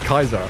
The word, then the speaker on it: Caesar: It wasn't Caesar, it was Kaiser.